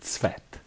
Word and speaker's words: Tsvet: instead of going with you just go with svet svet excellent yes where are you